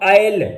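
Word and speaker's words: isle: इसी तरह इसले लिखा होता है तो हम आयल पढ़ते हैं।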